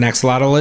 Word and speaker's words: axolotl: later, there was a lizard cage of an axolotl. Okay, right, wait, let's stop that. No one knows what an axolotl is. But that's why it's even cooler. Wait, am I correct? No one knows what an axolotl is?